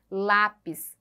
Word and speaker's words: lápis: penúltima sílaba mais forte lápis que é uma paroxítona também e por último Sério